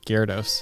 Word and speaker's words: Gyarados: earlier like I don't even know how to pronounce this Jerry Attis Garris what is it Gyarados yeah Gerardus not even remember what that was